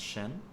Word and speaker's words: SHN: It's pronounced Shen, Yeah. um, and stylistically, it's presented as capitalized SHN. So, what Yeah. is the significance of that name to you? Well, Shen is actually part of my full name.